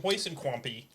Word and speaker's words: Huiskamp: You have two different last names, and Huiskamp. That is how it's pronounced.